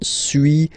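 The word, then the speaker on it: suis: okay so first one Su as you've been noticing you don't pronounce the final s okay and for two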